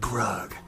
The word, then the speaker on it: Grug: a rug rhymes with grug and this one I call it a ride rhymes with grug uh that doesn't ride it's